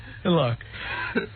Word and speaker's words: tilak: Tilak. T-I-L-A-K, that's how you say it.